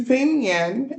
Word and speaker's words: Vinh Yên: If if we pronounce it wrong, it's right on the screen, but it is Vignen, and we stayed in Vignen.